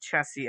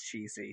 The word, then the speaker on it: Chessie: Editor's note, I have mispronounced Chessie as Cheesy, so whoops.